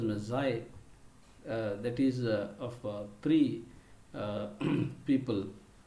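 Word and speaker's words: Magi: ಅವನ ನೂರಾರು ಕತೆಗಳಲ್ಲಿ the best non ಆಫ್ is hundreds of ಸ್ಟೋರೀಸ್ನ ನಾವು ಮೆನ್ಷನ್ ಮಾಡಬೇಕಂದ್ರೆ the gift of ಮೆಝಾಯ್, MEAGI, that has to be pronounced as Mezzai, that is of three people who are the biblical characters.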